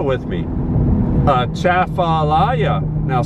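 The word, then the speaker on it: Atchafalaya: over the lower chapter of alaya river say a chaffelaia with me uh chaffalaya now spell it in your mind while i look at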